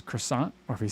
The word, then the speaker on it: croissant: the united states and i say crescent roll or i'm going to say croissant i'm not going to say it like cross hole you know so that's